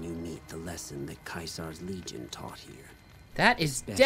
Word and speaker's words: Caesar: And the fact that you read it as Kaisar is fucking hilarious. And I just, oh boy. That's so funny. They all do that? It's technically correct. What? That's how it's pronounced in Latin.